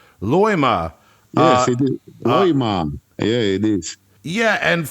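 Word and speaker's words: Loimaa: another word that I may or may not pronounce correctly your home uh town if it's a town or a county is it luima Loma Loma yeah it is yeah and for death metal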